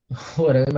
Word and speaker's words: Roraima: Roraima a gente fala assim, né, com A fechado, eles falam com A aberto, isso vai dar um certo conflito de pronúncias.